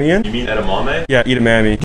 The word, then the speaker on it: edamame: okay okay yeah we do what I was edaman you mean edamame yeah edamami how do they know what he